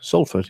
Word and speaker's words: Salford: Next on the list, Salford. Is that how you pronounce that, Nick? Salford, yeah.